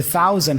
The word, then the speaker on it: thousand: The TH here for thousand has a voiceless sound. It's thousand, 10,000. But when you speak fast, you don't have to overly pronounce the th. It's usually a th. My tongue is still between my teeth, but not really fully going th.